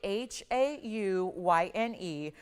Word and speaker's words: haüyne: This is going to be Haüyne. This is how you say that, pronounce the stone's name, but it's actually named after a kind of an old term.